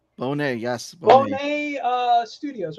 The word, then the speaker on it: Bonet: We got the guest of honor tonight, Sebastian from Nerds of the Round, but also uh, it's pronounced Bonet, right? Bonet, yes, Bonet.